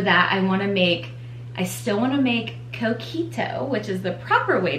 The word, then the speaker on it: Coquito: I still wanna make Coquito, which is the proper way to say it,